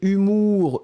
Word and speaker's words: humour: Faites attention parce que des fois c'est un petit peu difficile à prononcer. Ici c'est humour. Hein? Humour, souvenez-vous qu'il y a aussi humeur. Je me réveille de bonne humeur, mais ici c'est l'humour.